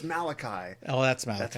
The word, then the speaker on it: Malachi: Question not my judgment, Mordecai. No, it's Malachi. Oh, that's Malachi. That's right, Malachi.